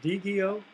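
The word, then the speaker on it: Diigo: somebody who was using, I'm not sure the pronunciation, Digio, D-I-I-G-O. Digo, yes.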